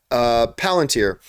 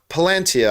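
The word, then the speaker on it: Palantír: Elendil's daughter is told by the dying king to view the Palantir, the whole... Palantia, I think is the way they pronounce it.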